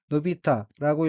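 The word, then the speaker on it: 伸びた: 다음 어휘의 한자는 별신자이고 일본어로는 노비타라고 읽으며 노비타는 펴지다, 뻗다, 자라다, 발전하다, 신장하다, 증가하다는 뜻의 자동사 노비루의 과거형으로 노비타는 자랐다는 뜻입니다.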